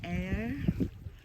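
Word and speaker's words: Ayr: we are here in air how you pronounce a y r air Scotland greeted me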